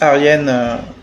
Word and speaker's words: Argenè: Alors ça s'écrit Argenè mais ça se prononce Arienne en hollandais hollandien.